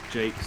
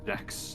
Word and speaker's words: Jacques: It's pronounced Jake's. Player 1, apparently. it's your turn. It's not me. Isn't it not Jacques? Jacques. I would assume it was Jacks.